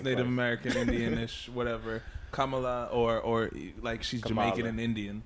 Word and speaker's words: Kamala: her name wrong is is it camilla or it's kamala it's supposed to be kamala harris okay commonly supposed